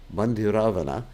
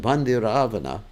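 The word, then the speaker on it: Bhandiravana: So in Bandiravana, Bandiravana, Ravana, not Ravana. Bandiravana. I have to be careful. We pronounce these words.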